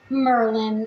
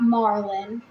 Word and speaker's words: Merlin: in his Madness and it's pronounced Merlin not Marlin Lear with his own